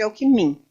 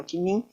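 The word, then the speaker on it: Alckmin: o alim na época a gente chamava de Alkimin o Zé Maria alimin hoje se pronuncia alim não sei porqu mas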